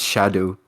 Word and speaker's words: Scadu: radiant landscape of scadu scadu it's pronounced shadow alus Beau yeah I